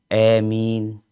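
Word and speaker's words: آمين: Jadi bacaan imalah itu kan antara fathah sama ya ya. Jadi baca amin. Ini terus nulisnya seperti apa? Mungkin iya tulisnya bukan A ya, bacanya bukan A karena disebutkan ini bil imalah dengan mad. Jadi di imalah tapi dipanjangin.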